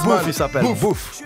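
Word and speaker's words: Boef: Il s'appelle Bouf. Bouf. Enfin, je prononce ça parce que c'est B-O-E-F.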